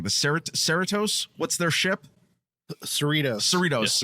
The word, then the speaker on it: Cerritos: Well, and wait, and don't you want to see, I'm pronouncing this wrong, the Cerritos, what's their ship? Cerritos. Yes, Cerritos.